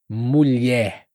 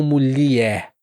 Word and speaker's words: mulher: Mulher. Mulher. Não mulier, mas mulher.